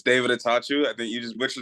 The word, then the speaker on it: Attaochu: the Keaton Taylor show today we got David auu today from Barry University David introduce yourself a little bit it's David atatu I think you just butcher the last name